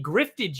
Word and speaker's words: grift: You spell it like you spell drift, but with a G.